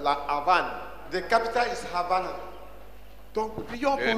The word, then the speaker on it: Havana: The capital is Havana. Donc prions pour. They don't they pronounce that V as B.